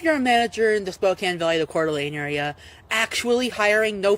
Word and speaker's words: Spokane: It's pronounced Spokane.